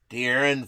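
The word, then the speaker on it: De'Aaron: talking about a guy from the Sacramento Kings dearon Fox did I say it right Hollywood Harry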